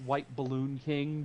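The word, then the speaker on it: WhtBllnKing: is your Twitter and my Twitter handle it's pronounced white balloon King but it's spelled wh t b l l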